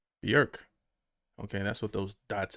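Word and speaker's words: Björk: Please welcome from Iceland, Berk. Bjork. Okay, that's what those dots at the top mean. Okay, so the J is silent.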